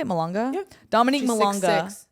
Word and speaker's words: Malonga: Malonga?